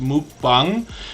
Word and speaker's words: mukbang: Louis Acre Farm Karma I believe it's meant to be pronounced mukbang uh I think it's a Korean word but forgive me if